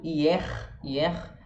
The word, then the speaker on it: hier: Por exemplo, hier, que é ontem, a gente fala o R, mas na grande maioria dos casos o R não vai ser pronunciado.